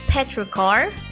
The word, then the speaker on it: petrichor: when rain falls on dry soil is called petrocar let's spell it out petrichor p e t r i